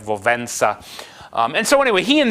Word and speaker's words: Wałęsa: It's pronounced more like Wałęsa.